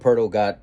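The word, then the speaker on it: Poeltl: Jacob hurdle that's how you say it Jacob Purtle got traded from the Spurs to the Raptors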